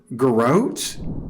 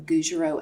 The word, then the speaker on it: Gougerot: Garrote? Okay, so I'll just tell you how it's pronounced. So it's basically congenital and reticulated papillomatosis of Gougerot and Carteau.